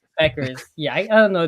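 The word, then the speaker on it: Bueckers: I'm gonna just say Paige Beckers. Beckers. Yeah, I don't know. The BUE always messes me up. The U is silent.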